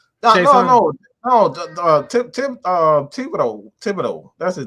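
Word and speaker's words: Thibodeaux: Kevon Chason. No. Thibodeau.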